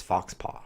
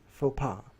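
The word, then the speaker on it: faux pas: same FAA that's French by the way it's spelled like this fox paw Fox Paz but it's pronounced FAA it's an embarrassing or tackless act mostly tack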